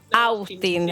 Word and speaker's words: Austin: Es un apellido de origen galés, no inglés. Ah, perfecto. Con lo cual, su pronunciación. Austin.